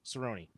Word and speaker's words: Cerrone: Told him what his last name was. He was like, "Thank macaroni. Cerrone.